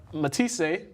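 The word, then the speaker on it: Matthysse: Quickly, Manny Pacquiao knocked out Matisse.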